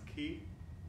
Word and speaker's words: chi: called chiasm coming from the greek letter he pronounced ki in english which uh shows how